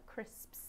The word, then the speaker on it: crisps: Crisps is a notoriously difficult word for learners of English. It's the crisps sound at the end.